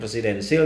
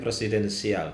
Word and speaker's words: presidensial: harus dijatuhkan Hai jadi cara bacanya itu bukan presidensil tapi presidensial Hai karena itu kalau